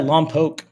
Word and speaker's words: Lompoc: Now, how do you pronounce Pretty that? awesome. Lompoc? Yeah, Lompoc.